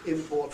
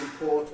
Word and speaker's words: import: this rule are noted, especially pairs of nouns and verbs with their spellings identical, import and torment versus import and torment. What's interesting too, especially to me about those two words of the import and torment kind, is they have exactly the same phonemes, whether they are stressed to the first syllable or the second.